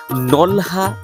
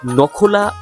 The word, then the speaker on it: নকলা: শুরু করা যাক নকলাবাজার এই অঞ্চলের মানুষ নলহা কিংবা নখলা উচ্চারণ করে থাকেন স্থানীয়রা মনে করেন শেরপুর